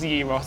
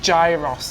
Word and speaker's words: gyros: Well, I only got it just to show everybody that commented on our Greek series that I can pronounce gyros. It's not gyros, as I kept calling it.